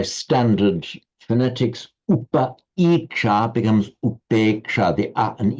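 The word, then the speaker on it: upekṣā: And in Sanskrit, it is upeksha. So upeksha in Sanskrit, upekha in Pali. And I tried to get the pronunciation right there. You notice that in Sanskrit, I pronounce it with the long A, upeksha, upeksha.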